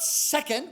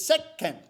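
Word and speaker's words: せっけん: it sound - okay the little two makes no sound okay it's a little celeb syllabic letter that instructs you to wait infinitesimally before proceeding to the next syllable so it's not second which is what I was saying it's set Ken yeah I mean those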